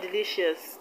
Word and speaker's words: delicious: have delicious suspicious religious in the word delicious the stress is only which is the second level from the end of the words delicious delicious suspicious the stress is on